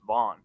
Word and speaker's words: Van: I'm leaning towards Pantoja, but I really would not be surprised if Van won. Actually, we got to start calling him Vaughn, bro. His actual last name is pronounced Vaughn.